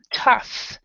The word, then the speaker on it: tough: pronounced this word it's tough so it's an F sound so so this the